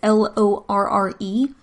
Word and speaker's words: Lorre: I'm not exactly sure how to pronounce it. It's Lorre.